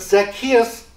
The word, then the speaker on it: Zacchaeus: Luke focusing on Zacchaeus just to get the pronunciation correct um but Zacchaeus Was a tax collector now if you've been